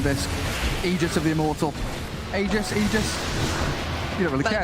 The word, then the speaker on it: Aegis: egypt of the immortal aegis aegis where it was said that it's pronounced ages that's true ice frog